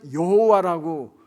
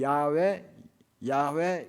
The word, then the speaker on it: 야훼: 그때부터는 이걸 어떻게 읽어야 되나 해서 여호와라고 제호바 여호와라고 읽기 시작했습니다. 그런데 제가 신학교 다니니까 그때는 이 여호와는 이게 제대로 음역된 게 아니다. 아마 야훼일 것이다. 그래서 야훼 이렇게 요즘은 씁니다.